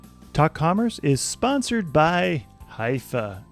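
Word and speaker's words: Hyvä: Commerce is sponsored by hia or as the Europeans say hoofa or the right way to say it hufa is rapidly becoming the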